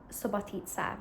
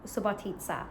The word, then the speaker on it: Subotica: I've just realized I am pronouncing Subotica wrong. Subotica.